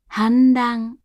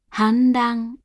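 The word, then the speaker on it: 反乱: 反乱、反乱、反乱。犯罪、犯罪、犯罪。 Before R and Z, the hatsuon is said as a voiced alveolar nasal.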